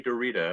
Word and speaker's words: Derrida: But let's go with Derrida. Right. That's the common pronunciation. Let's just swing with it.